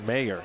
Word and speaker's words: Mayer: Jokingly coming up to me and reminding me that it's Mayer and not Meyer, which, hey, listen, I appreciate all pronunciation corrections.